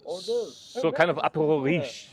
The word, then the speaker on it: hors d'oeuvre: Hors d'oeuvre. Hors d'oeuvre.